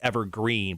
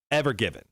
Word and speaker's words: Ever Given: people called it couldn't stop calling it the evergreen but it wasn't evergreen it was ever given so how do you spell ever give it